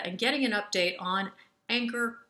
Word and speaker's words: Angkor: getting an update on anger resources did i pronounce that properly you got it tracy great to be